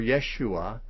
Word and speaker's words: Yeshua: means jehovah is salvation joshua or yeshua a probably more authentic pronunciation is a shortened form of jehoshua just just kind of